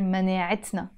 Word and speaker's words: مناعتنا: I would have to pronounce this t, t مربوطة. That's why we pronounce it here مناعتنا.